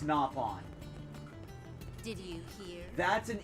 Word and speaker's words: Nopon: It is not pronounced no pawn. It's napon.